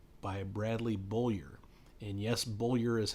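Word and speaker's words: Beaulieu: Bradley Boyer and yes bullior is how it is pronounced I had to look it up uh it's not spelled that way but that's how it is pronounced the first book is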